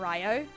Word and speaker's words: Ryo: Did she pronounce Rio correctly? What kind of parallel universe is this? Whenever I'm like in a troll character, I'll just start calling him Rio instead of Ryo.